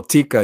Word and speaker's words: Tikka: I hope I'm not saying it wrong no Tikka is is is the way it's supposed to